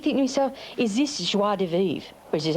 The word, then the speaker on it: joie de vivre: And I keep thinking to myself, is this joie de vivre? Which is how you pronounce it.